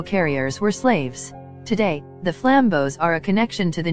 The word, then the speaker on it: flambeau: The flambeau, pronounced flambeau, meaning flame torch, carrier